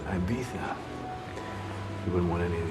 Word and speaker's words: Ibiza: His wife's in Ibiza. She left her diamonds behind, though. Worried they might get stolen. It's pronounced Ibiza.